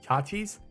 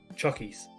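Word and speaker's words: Choccies: Is that pronounced chachis? Chockies. Chockies. Okay, but I see a double C, and I I see a double C, and I immediately think it's a chockies. Chocolates and biscuits.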